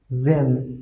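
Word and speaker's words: sehen: s after s e is coming like overall pronunciation will be z z okay zen okay see h we have wrote here but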